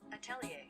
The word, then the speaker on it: atelier: I've seen the word before, I just never bothered to learn how to pronounce it. So let's do that now. Atelier. Atelier.